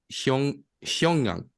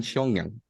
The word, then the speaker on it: Xiong'an: Disculpen, mi chino no es muy bueno, pero la ciudad se llama Xiong'an. Espero haberlo pronunciado con Muy mal, de hecho dijiste perro atropellado. Muy mal. un perfecto mandarín, Xiong'an.